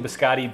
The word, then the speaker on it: biscotti: we get on pronouncing biscotti bisc I was saying like biscuits but bisc oh but you say biscotti that makes sense too yeah there's something sort